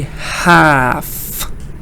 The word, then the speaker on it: half: L can sometimes be silent in the word half. So I say half.